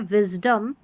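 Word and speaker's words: wisdom: ठीक है, और डिसाइड करेंगे हम स्पेलिंग को देखकर, लेकिन यहाँ पर अ पढ़ा गया है, विजडम।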